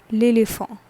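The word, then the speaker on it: l'éléphant: a n t lily for what is the pronunciation that is lily form okay so this was a topic that is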